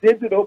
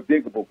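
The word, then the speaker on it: Digable: Is it digital planet? Or diggable plant. Diggable. I was saying it wrong. Diggable. So they were laughing at me because they said, "Daddy, it's digital plant." I was like, "That is diggable."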